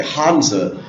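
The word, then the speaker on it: Hanzi: that one symbol again or hanza we say hanza in Chinese one hanza represents one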